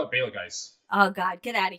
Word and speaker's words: Betelgeuse: a really big star like Betelgeuse right now, Beetlejuice, yes. Beetlejuice. It's on his death throes. it is God, fucking Brittany, this Beetlejuice. is You beautiful do stuff not that say happened. Beetlejuice. Beetlejuice. I call it Betelgeuse.